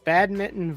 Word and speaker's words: badminton: thought it was funny that they like overpronounce it like badminton. And I was like, Badminton. I guess that's how you spell it, but nobody says it like that.